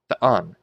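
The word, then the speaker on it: θεόν: Anyway, so the ultima here is accented. So what sound does a theta make? Is th. So th, on, the on, because the on is accented. So not the on, but the on.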